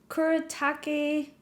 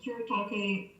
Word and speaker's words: Kuretake: Kuretake. Kuretake Gansei, and then there's also the last name Tomai.